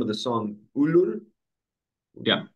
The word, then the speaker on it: Ullur: And I want to ask you about I'm going to try to pronounce the name of the song. Ulur. Yeah, Ullur.